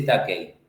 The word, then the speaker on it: Tukey: lo que se llama el test de Takei, que acá se escribe como Tukey, ¿no?